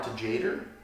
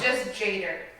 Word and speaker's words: Tjader: It's just Jader. Jader? Just Jader. You don't pronounce the T? Like, just Jader.